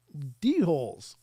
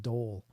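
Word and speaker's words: dhole: But basically, I covered a story about D-holes, and I was reading it like D-hole all night. And finally, somebody piped up in chat and said, that's pronounced dole.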